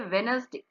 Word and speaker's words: Wednesday: जब हम इसकी स्पेलिंग लिखते हैं बेटा तो हमने ऐसे लिखनी है वेडनेसडे, और जब हम इसे बोलते हैं स्पीक करते हैं then how वी can speak it वेनसडे.